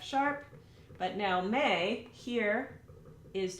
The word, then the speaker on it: me: draw an extra syllable may. Now these syllables are Italian, so M-I is pronounced me, and then M-E is pronounced May, like the month of May.